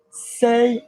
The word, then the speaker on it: c'est: We're not pronouncing the t on say, are we? It's just c apostrophe est.